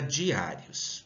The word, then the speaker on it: diários: Vou ter aqui novamente a sílaba mais forte no A.